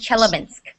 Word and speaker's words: Chelyabinsk: It's pronounced Chelyabinsk.